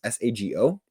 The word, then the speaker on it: Sago: Now, Ty was handed a technical foul by official Natalie Sago, I believe is how you pronounce her last name. It's Sago.